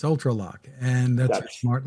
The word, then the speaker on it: ULTRALOQ: Yeah, Well, it's spelled for those who are listening ULTRALOQ. That's UltraLock.